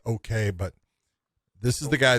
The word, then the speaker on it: Ok: going to look at Rayun Ok is how you say it. It's okay, but this is the